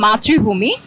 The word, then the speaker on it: মাতৃভূমি: ইংরেজি কি বলছেন মাতৃভূমি মাতৃভূমি এটার উচ্চারণ হবে মাতৃভূমি এটার ইংরেজি হবে হলো